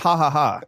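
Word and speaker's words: Ja Ja Ja: lovely vegan Mexican establishment side pronounced haaha yeah it probably is yeah but we're speaking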